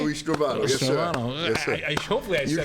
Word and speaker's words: Stravato: Louie Stravato, yes, Stravato.